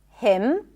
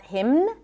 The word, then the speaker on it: hymn: The N is silent in the words hymn, not hymn, condemn, closing my lips, ending with an M, autumn, and government.